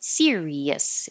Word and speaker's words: Sirius: word series and Sirius so series is two syllables and Sirius is three like sunflower one two three serious and um the